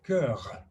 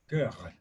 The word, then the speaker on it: cœur: And what I said to him, because I can't pronounce the r, is, in French, heart is cœur, cœur. You have to pronounce the r, Mm.